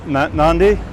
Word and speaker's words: Nadi: It's most of the tourists go to the other part, Nandi. It's spelt Nadi, but everyone calls it Nandi for some reason.